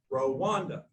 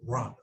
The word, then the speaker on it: Rwanda: started to think gosh there's no o in r it's r w a and and i actually asked how do rwandans pronounce rhonda well it they pronounce it run so i thought hmm